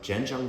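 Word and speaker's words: Zhenjiang: I've got some Jenjang van. It's often romanized as chinqyang, but it's pronounced jenjang in Mandarin.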